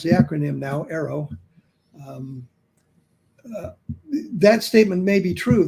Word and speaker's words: AARO: The other thing is, when she makes a statement like that about AARO, that's how we pronounce the acronym now, AARO, that statement may be true, that they have